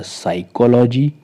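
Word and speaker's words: psychology: पहले पी आया है इसलिए यहां पर पी साइलेंट है और ये वर्ड है हमारा साइकोलॉजी इसका हिंदी में अर्थ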